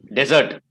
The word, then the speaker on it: dessert: Dessert is the pronunciation for the noun. Desert is also obviously a noun, but desert is pronounced Registan. And dessert is what you pronounce it as the sweet that we're talking about, right?